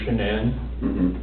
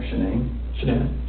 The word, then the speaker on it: Shanann: Amanda, anybody that lives here that knows Shanann, they pretty much have the same contact list.